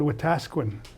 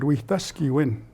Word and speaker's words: Wetaskiwin: It's usually called Wetaskiwin, Alberta. But it's actually a Cree word, Wetaskiwin, which means having good relations.